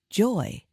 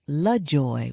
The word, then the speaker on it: LaJoy: I stated it incorrectly I used to think the correct way to say it was Joy however my grandmother would correct me and say your middle name is La Joy with Allah at the beginning so then I began